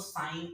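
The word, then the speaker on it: sign: इसको साइन पढ़ना है क्योंकि GN से लास्ट हुआ है।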